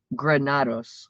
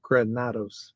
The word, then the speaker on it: Granados: It's Granados. Granados.